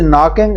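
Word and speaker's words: knocking: हु इज़ नॉकिंग एट the door. दरवाजे पर कौन दस्तक दे रहा था? तो या नाकिंग जो है 10 तक इसमें के साइलेंट है।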